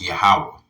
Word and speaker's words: Yahawah: Whenever you see Lord in all capital letters, that would be pronounced Yahawah.